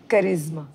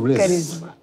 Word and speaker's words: करिश्मा: करिश्मा, आपने ये दुनिया, पहले तो आपके नाम का करेक्ट प्रोनाउंसिएशन आप मुझे बताइए ताकि मैं गलती ना करूं। इट्स करिश्मा। मैं माफी चाहता हूं। यस, करिश्मा।